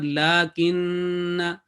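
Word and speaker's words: لكن: will be wrong so remember luck in this alif will be silent so um another example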